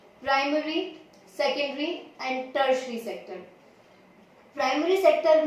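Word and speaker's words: tertiary: बहुत से लोग इसको प्रोनाउंस करते हैं टेरिटरी, जो कि बिल्कुल गलत है। टेरिटरी इज the wrong pronunciation. मेरे कई स्टूडेंट्स के मुंह से मैंने सुना था और दे सेड कि उन्हें उनके किसी टीचर्स ने बताया था। अगर आप में से भी कोई इसको टेरिटरी प्रोनाउंस करता है, सो लेट me correct you, इट इज टर्शरी।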